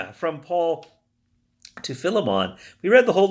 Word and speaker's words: Philemon: be a literalist going, no, it's Philemon. And you're right, it should be pronounced Philemon. But as I never say Philadelphia or Prince Philip, I'm going to stick with Philemon because it's just easier on my lips.